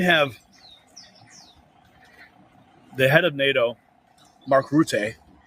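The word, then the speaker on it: Mark Rutte: And then you have the head of NATO, Mark Route, I just learned how to pronounce his name correctly, saying there's an irreversible path to bring Ukraine into NATO.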